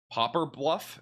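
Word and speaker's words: Poplar Bluff: Popper bluff. It's popper bluff. It just does not look like that at all in the pronunciation.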